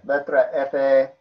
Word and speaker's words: letra: I pronounced it right. Great. So yeah, letra F, quarter note prep, and then just doing eighth note upstroke into eighth note downstroke.